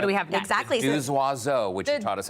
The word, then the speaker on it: Deux Oiseaux: And the Deux Oiseaux is actually a phonetic pronunciation play on two birds in French.